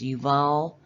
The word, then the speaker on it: Yuval: Well, my immediately my mind went to Noah and this guy Uval because of the AI part. And when you look at his name in Hebrew, it's yuval.